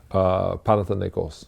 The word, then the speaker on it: Panathinaikos: how do you know that's how do you pronounce that the name Panathinaikos there we go thank you butcher she went